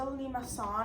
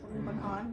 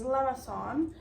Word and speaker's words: limaçon: It's actually a French word. There is a little accent down there. It's a limaçon. I know it looks like limacon, but you can say